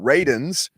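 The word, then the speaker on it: Radunz: then you go with dylan rayden's is how his last name is pronounced per dylan himself 53rd you traded out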